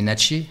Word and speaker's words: Natchez: 18e siècle on disait les Français disaient les nachés e e Z se prononçit e mais après sous l'influence de l'anglais la façon de prononcer à a évoluer c'est une population amérindienne